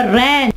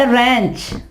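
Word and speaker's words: wrench: ठीक है, इसके अलावा रैंच, इसके बाद रैंच, यहां पे देखें W साइलेंट हो जाएगा, रैंच।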